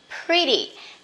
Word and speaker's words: pretty: My mom is pretty. Don't say pretty. Remember, pretty. You can say pretty, but remember T, that is not stressed. You can pronounce as soft D.